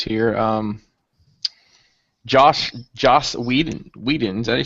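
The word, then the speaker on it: Whedon: some different news here um Josh Josh Weeden Weeden is that you say his name yeah so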